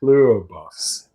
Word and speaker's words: Pluribus: And today we're going to talk about Plurbus.